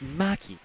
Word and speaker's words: Mackey: my head, but that Ashley's last name is pronounced Mackey. So thanks very much to Ron.